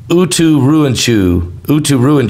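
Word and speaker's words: Uturuncu: And it is pronounced Uturuinchu. It's out of Bolivia. They're saying that this new super volcano, Uturuinchu, is a dormant stratovolcanic volcano, super volcano from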